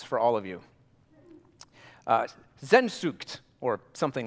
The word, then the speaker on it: Sehnsucht: The Germans have a word for it, which I will now mispronounce for all of you. Sehnsucht, or something like that. Sensucht. Sehnsucht.